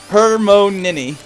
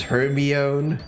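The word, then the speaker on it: Hermione: it didn't pronounce his Herbie own no I I didn't I didn't know how to pronounce it until until she pronounced it for Victor Krum in that one book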